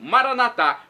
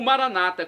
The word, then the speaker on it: Maranata: de Jesus o aramaico Maranata como dizemos nós católicos com a tônica na última sílaba ou Maranata como dizem nossos irmãos separados os evangélicos ou protestantes com a tônica na penúltima sílaba não importa pronúncia o